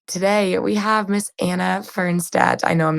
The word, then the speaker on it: Fernstaedt: Anna, could you say the right pronunciation of your name, how you say it, where you live in the Czech Republic? Fernstaedt.